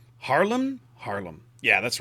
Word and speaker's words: Haarlem: tier viii dutch cruiser h and l ms harlan harlem harlem yeah that's right i think i think i